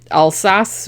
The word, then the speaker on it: Alsace: I said this figure is still in the Alsace region which i think is how you pronounce it like right around the also lorraine like right around with the french and german border so st.